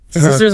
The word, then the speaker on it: scissors: Scissors. More like a silent as after the C.